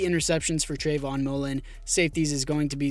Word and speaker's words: Moehrig: Well, Moehrig, my bad, that's how you pronounce it. Trevon Moehrig to an 88 overall superstar dev.